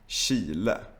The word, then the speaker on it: Chile: cases, when you see CH, you should also pronounce it like sh. For example, chatta, gruppchatt, chili, bachata, chips, Chile.